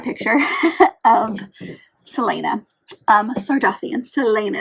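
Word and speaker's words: Celaena: of Selena um sardian Selena is how you say her name I think I was calling her Selena at one point um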